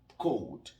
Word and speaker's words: cold: Alors, nous avons la première expression, I am cold. J'ai froid. I am cold. La deuxième expression, je rappelle ici, vous m'entendez prononcer cold. Cold. Je ne prononce pas le L parce que le L devient muet.